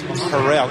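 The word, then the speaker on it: Harrell: a full year of calling him KT Harold that his true pronunciation is harell even the Auburn people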